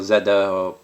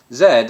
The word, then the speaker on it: Z: think except for perhaps Americans who of course as you say say Z but it goes back to Greek I think the initial Greek pronunciation then morphed into French Old French which was I think z-day or Zed however you you know they would have pronounced it which then morphed into what we Brits now know as Zed and Americans say Z presumably because you know you